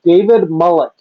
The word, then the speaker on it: Mullich: All right, my name is pronounced David Mullich. Mullich.